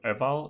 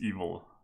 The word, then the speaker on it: eval: So evil is the proper pronunciation of that function, by the way. It's not eval, it's evil. Like, yeah, you know, like the evil word.